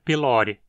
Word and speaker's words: pylori: hélice, e o epíteto pylori significa do pilouro, pois esse é o seu habitat natural. Pylori tem um O longo na penúltima sílaba, então tem que ser pronunciado como paroxítona.